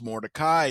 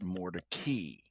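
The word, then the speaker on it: Mordecai: Um, and uh, Morai is a Jewish name, an old Jewish family name, but it's not actually pronounced Morai. It's pronounced Mori.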